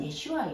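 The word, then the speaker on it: ישוע: 그 사람을 존중하는 거예요 우리가 예슈아의 이름을 예수라고 부르는 건 존중하는게 사실은 아니에요 본명은 예슈아 히브리어로 예슈아 안 발음이 안 돼도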